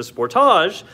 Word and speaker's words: Sportage: The Sportage, and I do say Sportage here because we are in Canada. I realize that not everybody else is, but in Canada, that's how you say it.